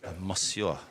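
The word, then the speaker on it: Moussia: Mosua.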